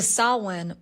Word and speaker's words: Samhain: And we have entered the sawin portal. What does that mean? S A M H A I N. But pronounced Sawin, it's the ancient Celtic twilight of the year.